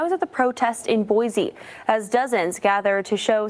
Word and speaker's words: Boise: Guys, here's Boise. This one's Boise. Boise, Idaho. You guys helped me with the pronunciation for this one.